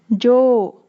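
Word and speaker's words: じょう: Its onyomi is long syllables, jo or show.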